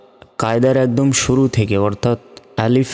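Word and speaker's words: ألف: অক্ষরটি সেটি হচ্ছে আলিফ আমরা অনেকে বলি আলিফ অর্থাৎ স্বরে ল এর রসই শেষে বাংলার প এর মত উচ্চারণ করি তো শেষে বাংলা ফ এর মত উচ্চারণ হবে আলিফ আলিফ আর এই আলিফ কোন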